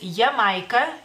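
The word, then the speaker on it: Jamaika: América Latina Así que en lituano es yamaica Jamaica se escribe con j no más quea la J se pronuncia de otra manera en lituano y la c la cambiamos por la k Así que es Jamaica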